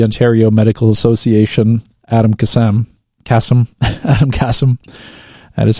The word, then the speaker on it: Adam Kassam: Adam Kassam. That is how you pronounce his name.